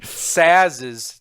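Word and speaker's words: Sazh: Sazes. That if you're curious how it's pronounced, Saz. Uh, okay. Saz's Chocobo.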